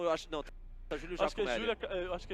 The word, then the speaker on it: Giacomelli: Tipo, é G-I Comelli, não é isso? É G-I-A Comelli. G-I-A Comelli, né?